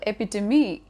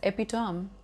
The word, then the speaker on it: epitome: actually be confusing sometimes for example ap to me which is wrongly pronounced as epitome or maybe in diet